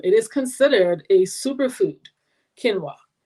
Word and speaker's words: quinoa: it is um it is considered a superfood quinoa it's spelled q-u-i-o-n-a and it's pronounced quinoa yes so that's the one i'm talking about